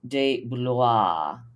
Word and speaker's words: De Blois: And then with him, we have also Craig de Blois. How do you pronounce that name?